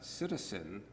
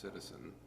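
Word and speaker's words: psittacine: ratite breastbone wow and a citizen it's it's actually how it's pronounced although it's spelled p-s-i-t-t-a-c-i-n-e would make for a wonderful word of the day it's pronounced citizen um refers to parrots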